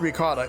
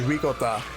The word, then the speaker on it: ricotta: Oh, it's not ricotta. It's actually ricotta.